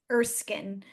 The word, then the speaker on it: Erskine: Her last name is Erskine, so I apologize for mispronouncing her name.